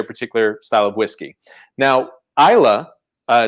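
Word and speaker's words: Islay: style of whiskey now isla uh it's spelled i-s-l-a-y but pronounced isla is a particular region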